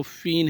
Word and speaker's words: feign: इसके बाद जो वर्ड है वो फ़ीन है, FEIGN, यहाँ पे भी जी साइलेंट है।